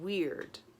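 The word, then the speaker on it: Wyrd: It is the rune called Weird. It's spelled W-Y-R-D.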